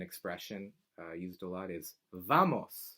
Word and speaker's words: vamos: common another common expression used a lot is vamos like let's go let's go vamos vamos alright W in Spanish is Doble ooh that's